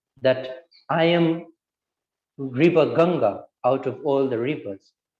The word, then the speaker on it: Ganga: am the gun the i don't know how to pronounce it in english like uh ganga i would say in hindi yes uh in english it's called ganges but you can you can say ganga yeah so uh ganga